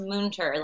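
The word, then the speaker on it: Münter: It's got the 2 dots over the U. It's actually, my dad's from Germany, so it's pronounced Munter. Munter. It sounds like 2 O's.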